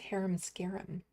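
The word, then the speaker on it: Harem Scarem: Oh, it's pronounced haram scarum.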